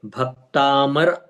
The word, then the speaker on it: भक्तामर: जैसे हम बोलते भक्तामर, भक्तामर में भ पर जोर आना चाहिए, भक्ता, भक्ता।